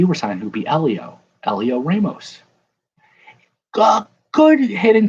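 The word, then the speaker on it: Heliot: spelled hell yet but the h is silent if the h and the t were signed would be elio elio ramos go good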